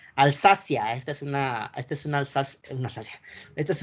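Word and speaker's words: Alsace: también no alzas ok la pronunciación es alzas buzio ley la región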